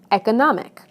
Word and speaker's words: economic: However, the following suffixes do change word stress. Listen to how the stress moves right to the syllable immediately before the suffix. Adding "this" to major, it becomes majority. Adding this to educate becomes education. Adding this to economy becomes economic.